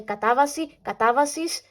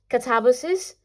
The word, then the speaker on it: Katabasis: Catabasis can leave, because this is a Greek word. In Greek, you say katabasis, so it's katabasis, not katabasis.